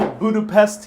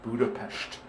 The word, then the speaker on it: Budapest: Beautiful Budapest here in Hungary.